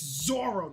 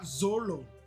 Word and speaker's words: Zoro: L's and R's just sound different when you pronounce it in Japanese, but it's still an L and a fucking R. When you Romanize it, it's Zoro. It's Zoro, not Zolo.